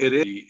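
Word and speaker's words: ערב: E a palavra ereb, ela se pronuncia ereb, termina com V, tá?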